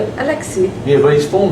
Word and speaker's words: Alexei: Alexei. Yeah, but his full name? Alexei Mikhailichenko.